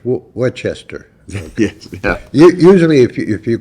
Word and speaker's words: Worcester: that people spell it with the AH at the end or an ER or whatever. Okay. To me, it's Worcester.